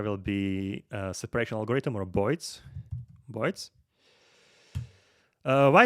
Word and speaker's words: boids: I just Google for it or search on the internet for it, and boids is because of birds, how the New Yorkers pronounce birds, boids.